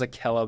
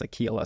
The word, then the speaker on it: Akela: I thought it was Akela, but it's actually pronounced Aquila. So like Aquila.